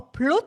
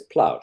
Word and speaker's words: Plaut: Or Plut, how do you pronounce it? It's a German name, so it's Plaut.